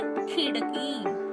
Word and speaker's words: खिड़की: ई की मात्रा है, इसलिए खो का उच्चारण मैंने कैसे किया? खिड़की, खी। ये जल्दी से किया, लेकिन को का उच्चारण करते समय मैंने बड़ा किया, यानी की, खिड़की, ऐसे।